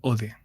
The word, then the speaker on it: Odeh: ¿Cómo se pronuncia tu apellido? ¿? ¿El apellido? sí. Ode.